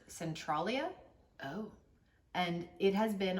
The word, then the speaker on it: Centralia: I believe it's pronounced Centralia, Oh.